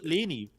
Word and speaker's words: Leni: Is it that uh her first because it's it's Lenny. Lenny. So it's Leni.